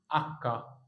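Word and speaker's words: acca: الاتش بالايطالي كحرف اسمه اكا اه والله زي ما بقوللك كده اسمه اكا طب ايه انت قلتش اكا لا ده اسم الحرف اكا لكن هو ما بيتيش ولكنه موجود ما تشغلش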